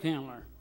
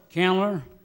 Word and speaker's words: Candler: Yeah, a little old place called Candler. Called what? Candler. Candler. Yeah. Would you spell that, please?